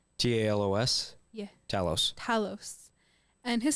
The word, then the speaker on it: Talos: Did I pronounce that right? Talos.